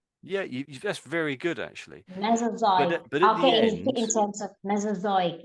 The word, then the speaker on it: Mesozoic: Mesoic.